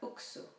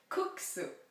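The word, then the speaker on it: 국수: So food is umchi, kimchi, and noodles are uksu. No. Oh, I'm saying it wrong this time. Kuksu.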